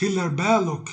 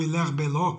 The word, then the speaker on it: Hilaire Belloc: E daí terem afirmado, dentre outros, Hilaire Belloc, ou Hilaire Belloc, se preferirem a pronúncia à moda francesa, já que ele era inglês de origem francesa.